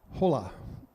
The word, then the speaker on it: hola: So because you can't see there's Jerry with his comment from YouTube, and he says, "Hola." Actually, it's "hola." You don't pronounce the H, right? I believe that's Spanish.